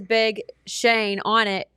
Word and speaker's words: Schoen: shirt that says Big Shane on it, it's Shane, but it's spelled Schoen. Yeah, elementary school was a nightmare. I've accepted that. It's really hard to look at the word and say Shane.